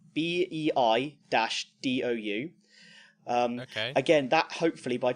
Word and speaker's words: Baidu: by 2020 then there's pronounce this right Baidu which is a Chinese Chinese system bei - do you again that hopefully